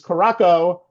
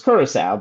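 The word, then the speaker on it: Curaçao: they're so unknown that they were pronounced as Koraco by Hall of Famer Wayne Gretzky of the NHL when they did the World Cup group reveal back in December. It's Kurissau, by the way, if you didn't know what the pronunciation was.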